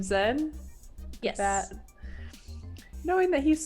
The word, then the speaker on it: Xen: You know a couple of things about the pirate warlord Zen.